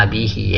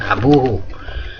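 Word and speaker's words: أبيه: Baik, selanjutnya Ismu abihi, ini harusnya bacanya abihi, ya, tulisannya ismu abihi, bukan abuhu, ya.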